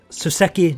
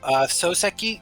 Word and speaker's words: Soseki: Suseki Natsume. Sorry, need to remember how to pronounce. Natsume means summer. Okay, but do you is that your full guess on his name? Oh, Soseki.